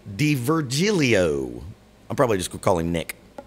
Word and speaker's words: D'Virgilio: let's check out and i had to uh look up an interview to figure out how to say his name nick d virgilio i'm probably just calling